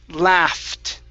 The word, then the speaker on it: laughed: cards okay very good this word here is pronounced laughed love okay now pronounce a t at the very very end so the e d here this would be pronounced like a t sound so it's laughed laughed there you go that's